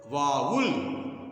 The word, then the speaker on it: vowel: वाउल इसको पढ़ा जाता है वाउल्स, और यस लगा देते वाउल्ज वाउल्ज। तो सही उच्चारण यही होता है।